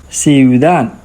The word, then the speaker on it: ciudad: We have I, U together, so they are going to stay with the same syllables, and it is a quick pronunciation, ciudad.